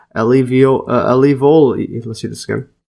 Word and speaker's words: alveoli: In mammals and reptiles, these are called alo alivoli. Let's see this again. Alvoli.